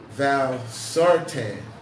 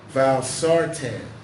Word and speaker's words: valsartan: FDA that high levels of forgive me for mispronouncing his word dying dying for mouth I were found in that valve Sartain a drug produced by Novartis and other pharmaceutical company companies valsartan that's the name of the drug that has